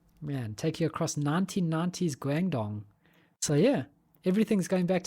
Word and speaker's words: Guangdong: So, next up on the also the 28th is Road to Guangdong. I think that's how you spell it. So, let's say it gang. Can you pronounce that Le also? Guang. Guang. Guang Dong.